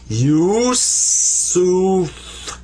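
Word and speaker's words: يوسف: So it's pronounced you, you. And then sa, there's the 3 dots, the 3 stems that are up here like this, without dots, actually. So that's sa, pronounced like a S. And this is fa. This comes up to be Yusuf. Yusuf. And that's my name. That's how you write Yusuf in Arabic.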